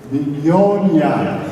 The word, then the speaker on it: Mignogna: Pronuncia in italiano si dice Mignogna.